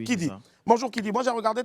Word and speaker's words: Kidy: Alors, pour la petite histoire, il faut savoir que Kidi s'écrit ainsi K-I-D-Y. Voilà, oui, Kidi.